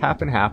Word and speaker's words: Half x Half: half x half podcast that's pronounced half and half but i'm still getting it wrong you can see all